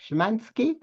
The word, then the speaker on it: Szymanski: Szymanski? No, you pronounce it correctly, but the way the letter ni appears is kind of funny, but it's okay.